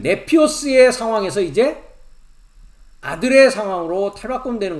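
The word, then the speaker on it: νήπιος: 어렸을 동안에는 네피오스라고 한다고 말씀드렸고요.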